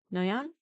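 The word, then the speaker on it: Noyon: Uh it's French so don't pronounce half the name the sound. So it's Noan no France on July 10th.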